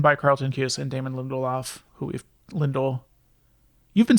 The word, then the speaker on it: Lindelof: So this was written by Carlton Cuse and Damon Lindelof, you've been saying Lindelof.